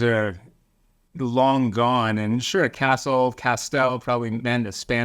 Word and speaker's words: Castel: It rhymes with pastel. My grandfather was a painter. He used pastels, let's say. Or it's like castle, but it's a castle illusion. You switch the E and the L.